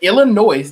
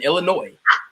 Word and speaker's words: Illinois: ethics on Illinois's yeah it is silent because it is a French word Illinois is French the O is free